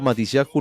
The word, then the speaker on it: Matisyahu: Ok, yo Matisyahu le digo porque no tiene tilde en la última.